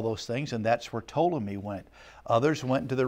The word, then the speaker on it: Ptolemy: One of them was Ptolemy, spelled with a P, P-T-O-L-E-M-Y, Ptolemy.